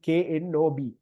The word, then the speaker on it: knob: So if you, for example, if you write doorknob එක, so doorknob එක KNOB, doorknob එක අපි K එකක් තිබ්බට K silent. So NOB විතරයි spell වෙන්නේ knob කියලා. K silent.